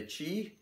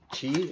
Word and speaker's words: Qi: and you can see the yoyo's spelled Qi but it's pronounced Chi as far as I